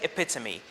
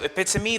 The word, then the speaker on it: epitome: epitome now i know we don't usually pronounce the e at the end of english words but english is full of exceptions and this word is one of these exceptions so we say epitome now if you pronounce